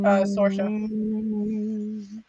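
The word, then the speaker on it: Sorcha: I think her name's pronounced Sorsha. Sorsha. Sorshay.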